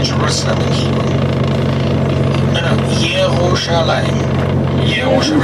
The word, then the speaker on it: Yerushalayim: Yerushalayim. Yerushalayim. Remember J goes to Y.